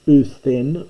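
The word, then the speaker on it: οὐδέν: This is uthen for uden, because by this time the delta was being pronounced as it is in modern Greek, like a theta, It's softened, so u den becomes u then in pronunciation, and then gets written as u then with a theta.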